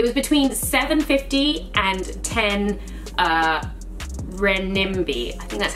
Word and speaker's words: renminbi: was all it was between 750 and 10 renminbi and that's how you say it so it's